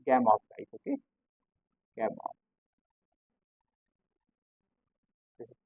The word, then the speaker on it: Gamow: Gamow. This pronunciation is Gamow, okay?